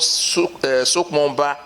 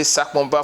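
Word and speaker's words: Sakpoba: road that leads to a village called Sokpomba, that is the real pronunciation. But because of non-native, they say Sakpomba for easy pronunciation for them. Non-native are pronouncing it Sakpomba. It's our duty for the indigenous to correct them.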